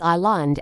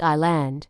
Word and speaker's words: island: Many learners pronounce Island as Island because of the spelling, but the S is silent, so it's just Island.